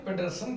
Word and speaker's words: Pedersen: ग्राम matrix, jargon पेडरसन ग्राम, ये पूरा नाम है इनका। JORGEN, जॉर्गन पेडरसन, PEDERSEN, पेडरसन ग्राम। ये हिंदी में उच्चारण, जॉर्गन पेडरसन ग्राम।